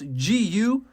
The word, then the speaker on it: Gu: So for those of you who don't know how to pronounce Mandarin, this Gu. You have to have a special way back of the throat.